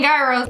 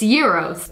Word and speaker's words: gyros: how Gyros are made if you're saying Gyros you're saying it wrong it's euros basically it's a bunch